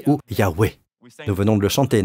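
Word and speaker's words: Yahweh: amis vous m'avez déjà beaucoup aidé cela se prononce donc y ou yahweé nous venons de le chanter n'est-ce pas you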